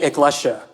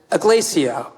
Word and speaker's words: Iglesia: I introduced myself to you as Iglesia. I say my surname like it rhymes with Kesha because that is how Filipinos pronounce it. But most folks recognize the name and pronounce it Iglesia or Iglesia, the Spanish word for church.